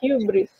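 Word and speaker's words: ὕβρις: leggerò Ibris, scriverò HY, gli metterò il dito, l'accento sulla e si dice Hubris.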